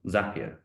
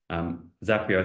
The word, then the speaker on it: Zapier: For automation, I really recommend a tool called Zapier. Lots of people pronounce it differently, but their CEO says it rhymes with happier. And in general, I'd agree. Zapier, I think, was one